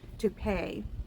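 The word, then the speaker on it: Toupet: one called a pronounced tupe it's pronounced tupe like the hair it's spelled different and um that's where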